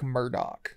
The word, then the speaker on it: Murdaugh: He says Alec Murdaugh.